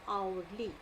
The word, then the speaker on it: hourly: So need to understand that we do not spell the H over here, and hourly.